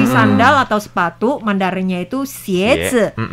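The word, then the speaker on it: 鞋: Jadi sandal atau sepatu Mandarinnya itu xiezi. Xie itu sama dengan pelafalan devil untuk xie.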